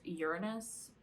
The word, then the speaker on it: Uranus: their ruling planet is your anus i guess the proper way to say it is uranus but then that sounds like urine we're just gonna call